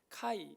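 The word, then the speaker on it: χι: 하기도 하는데 그 헬라어의 카이 그러니까 첫째이 x자는 그 우리가 말하는 영어의 알파벳 x가 아니에요 이거는 이거는 그 카이 크이 그러니까 그리스도라고 하는 단어의 첫 번째 그의 발음이 나는 x가 그의 발음이 나서 옛날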